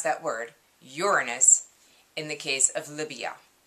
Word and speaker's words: Uranus: other one is uranus yes that's how you pronounce that word uranus in the case of libya so um i